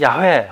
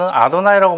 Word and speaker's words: YHWH: 자, YHWH는 야훼 혹은 아도나이라고 발음하는데요.